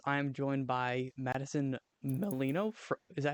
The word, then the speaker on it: Melino: I am joined by Madison Melino. Is that how you pronounce it?